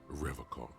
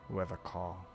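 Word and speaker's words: Revachol: He pronounces Revocall with a hard K, unlike other people. Revocall.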